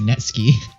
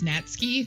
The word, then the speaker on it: Natsuki: and Yuri opens closet I have such a hard time not a saying Netsky so yeah we apparently have realized we've been saying her name wrong it's Nats key we've heard another youtuber